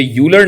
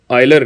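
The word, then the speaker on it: Euler: ये यूलर नहीं है, आयलर कहलाता है। इसकी प्रोनाउंसिएशन, इसका तलफ़ुज़ आयलर है।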